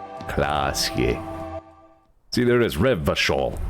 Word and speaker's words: Revachol: Revachol. Everybody keeps pronouncing that CH harder.